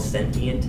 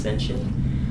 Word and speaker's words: sentient: here's a new word for it it's called sentient s n t i e NT can also be pronounced sensient um and that's having a central nervous system